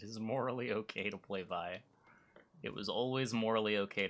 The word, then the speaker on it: Viy: morally okay to play vivo so nothing has changed hey listen here listen well i pronounce it vi and i will continue pronouncing it by until the day that i die oh and i just